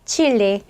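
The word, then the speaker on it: Chile: 칠레. 스페인어로도 이렇게 쓰는데 스페인어식 발음은 체프고요.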